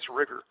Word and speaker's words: rigor: they refer to as riger which is when mein is in the low energy state so that goes back here this is what we refer to as rigger rigger sounds like the word rigid and it's when the